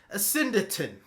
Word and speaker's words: asyndeton: The way to pronounce this word is Asyndeton.